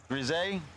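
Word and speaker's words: Grisez: Grisey, silent Z.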